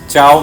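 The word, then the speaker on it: ciao: ইতালিয়ানে চাও মানে hello, C এর পরে আই বসেছে। 100 হলো চেন্তো, সি এর পরে ই বসেছে। সে কারণে দুই জায়গাতেই সি এর উচ্চারণ চ।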